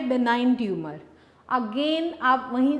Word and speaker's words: benign: जी बेटे, नेक्स्ट हमारे पास टर्म जो हमने मार्क करनी है बेनाइन ट्यूमर, जी साइलेंट है यहाँ पे, बेनाइन ट्यूमर।